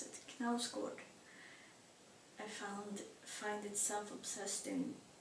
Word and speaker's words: Knausgård: Knausgård, I know how to pronounce it, Knausgård.